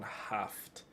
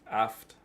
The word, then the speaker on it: haft: But where I come from, you don't really say the H. It's just aft maywa.